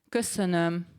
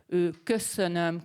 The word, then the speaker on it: köszönöm: The first one is köszönöm szépen, which is thank you very much. Maybe you have heard that. Let me say that again. Köszönöm szépen. very rounded lips. Köszönöm, köszönöm szépen, köszönöm szépen.